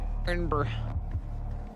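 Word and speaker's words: Irn-Bru: It's also spelled completely wrong cuz it's I R N B R U. Iron brew.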